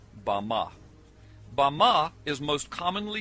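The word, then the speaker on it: במה: in the Strong's Hebrew dictionary and it is pronounced ba ma ba ma is most commonly used to refer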